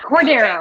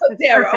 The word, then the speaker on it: Cordero: Yeah, Cordero, almost. Cordero, okay.